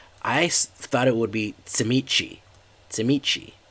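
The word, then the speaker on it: Tzimisce: even though he looked Shimonse. I've never heard it pronounced that way in my entire time. I've heard it pronounced Tsimichi, like as if it was Romanian. Tsimichi.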